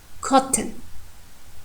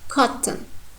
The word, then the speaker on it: cotton: You see, this first syllable is stressed, and the next one is unstressed. And here you can see sonorant, n. You see, sonorant. And of course, pay attention to the voiceless sound, t. Cotton, cotton. And the O sound in the second syllable totally disappeared.